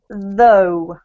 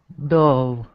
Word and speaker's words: though: don't actually pronounced a girth sound so it's pronounced though though yep sometimes if you're using text language and